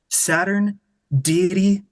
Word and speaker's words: Saturniidae: Instagram pretty much anywhere it's pronounced Saturn deity but you drop the D so it's Saturn is